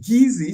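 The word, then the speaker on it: Kissi: tribal groups known as the golas and the Gizzy spell kiss SSI but pronounced gizy sounds a lot like GUI and that her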